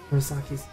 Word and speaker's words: Murasaki: How's silk different from Murasaki's?